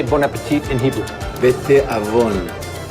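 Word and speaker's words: בתאבון: Bete avon. Bete avon. Bete avon.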